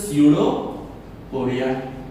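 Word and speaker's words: pseudopodia: इट्स अ स्यूडोपोडिया जिसमें P silent होता है।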